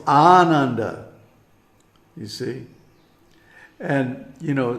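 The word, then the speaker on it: Ānanda: any other way so when I hear for example a western speaker pronounced the word Ananda no it's Ananda you see and you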